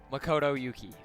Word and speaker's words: Makoto Yuki: I still don't know how to pronounce his name. Give me a second here. Makoto Yuki.